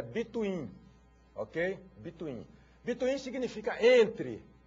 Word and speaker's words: between: agora o operador between a pronúncia senhores é between Ok between Bin significa